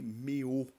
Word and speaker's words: Meaux: E quando ele, em 1520, na cidade de Meaux, se escreve Meaux, né? Mas se lê Meaux.